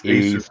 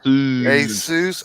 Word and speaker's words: Asus: He's informing me that my hillbilly speak of Asus for the last 20 years is Asus. It's Asus. Asus. Oh, okay. It's like Jesus.